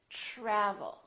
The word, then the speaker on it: travel: So the TR together make this sound almost like a CHR, almost like ch, but it's a softer one. It's ch, try, try. So let's look at some words that are spelled with TR. Try, travel. We don't say travel or travel. We say travel.